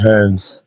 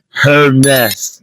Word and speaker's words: Hermes: I think the most common one is Herms. Herms. That's 2 syllables, guys. It's Hermes. Fair enough. Hermes. If you're going through the correct pronunciation, it's Hermes. But like Hermes is good. Hermes, 2 syllables. Not Hams.